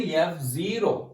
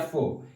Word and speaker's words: Fo: Most of the persons will pronounce it is a F0, but this is a FO. F stands for factor, O stands for oligomycin.